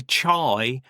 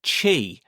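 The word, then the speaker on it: chy: And a lot of people say chai or shai. So you might say chai, but it didn't you pronounce it chi rhymes with t.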